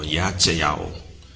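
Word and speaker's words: ישעיהו: In the Hebrew, if you look at H3470, and why pronounced it differently? Because there's two different spellings of it. There's one that's Yacheyahu, and then there's one that says Yacheya. Okay?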